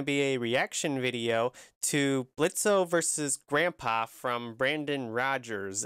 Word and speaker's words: Blitzo: Blitz, the O is silent, of course.